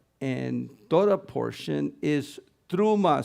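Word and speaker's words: T'rumah: our our Ulan class you see that this is a Tav with a a a shuk a me with a kamat and a final hey and so this is pronounced truma and it means offering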